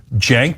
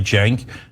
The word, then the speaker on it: Cenk: Cenk, this is pronounced like a J, Cenk, and then Uygur, Cenk Uygur.